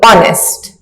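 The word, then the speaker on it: honest: बिल्कुल ठीक, हम एच को खामोश कर देते हैं और ओ से प्रोनाउंसिएशन करते हैं। तो एच इसमें क्या हो गया? Silent letter. ठीक है, एच क्या हो गया? Silent letter. ओ से हमने इसकी प्रोनाउंसिएशन शुरू की तो ये ऑनेस्ट, ऑनेस्ट।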